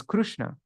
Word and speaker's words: Krishna: went to jagat Puri he heard how the local persons pronounced Krishna as krushna or Krush later krusta became